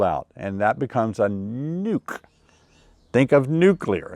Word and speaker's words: nuc: and by the way some of you uh wonder do you say a a nuke or a nook i hear it both ways i think i say it both ways but there is a right way to say it even though i may say it wrong sometimes the right way to say it is nuke because it's short for the word nucleus nucleus means a small